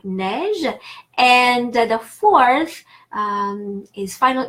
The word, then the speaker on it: neige: A in French, and the third type of spelling of the sound A is EI, like neige, and the fourth is final EZ, final ER, like manger, j'aime manger, or vous mangez.